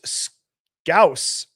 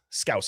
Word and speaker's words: Scouse: Birdie, the Beatles Scouse rhymes with house. Scouse house.